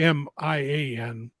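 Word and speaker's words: Mian: good things m-a-i-n sorry m-i-a-n well whatever you spell it it's not Maine like Main Street It's Mia uh I think they're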